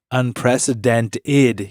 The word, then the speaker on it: unprecedented: Unprecedented. You're not saying the ED at the end.